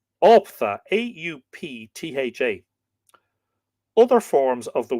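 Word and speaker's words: auptha: carrying love charms, unquote, which are there called Optha, A-U-P-T-H-A.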